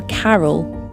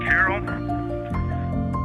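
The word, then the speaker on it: Carroll: And we would like to call it Carol. And you spell that C-A-R-R-O-L-L.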